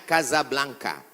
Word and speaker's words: Casablanca: Hasan dua di Kota Kasablanka Hai ibukota Maroko tempat saya kuliah nama negaranya Maroko ibukotanya tulisannya Casablanca cara bacanya Kasablanka Kaza artinya rumah Blanca